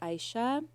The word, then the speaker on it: Aisyah: middle name now yeah my middle name is Aisha Aisha and it's spelled in like the Indonesian way um so